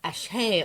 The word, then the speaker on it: Axe: Axe, which was actually pronounced Ache or something, was a ritzy Art Nouveau affair.